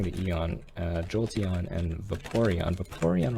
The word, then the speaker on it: Vaporeon: Vaporeon rhymes with Porygon, which you also pick up at the Game Center in Celadon.